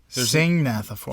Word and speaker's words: Syngnathiformes: Syngnathiformes. Yeah, there's no hard G. SYNGN. So an NGN Studios.